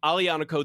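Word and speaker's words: Aglianico: And by the way, Alanico, that's a Leonico.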